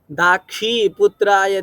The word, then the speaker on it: दाक्षी: पंक्ति में, हाँ, पादा दाखी ये यहाँ पे हाँ, आपका शी में जो छतरी वाला शी है उसमें आपने ख बोला है, ख उच्चारण आ रहा था। दाक्षी पुत्राय धीमते, दाखी, ठीक है, क्षम्यता में ख लगा होगा।